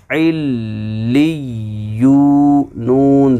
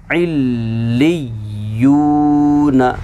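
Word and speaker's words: عِلِّيُّون: फिर या वाव पेश यू, ये बनेगा इल्ली यू, नून ज़बर न, इल्ली यू न। याद रहे कि तशदीद में सख्ती होती है, यानी उसको सख्ती के साथ पढ़ा जाता है।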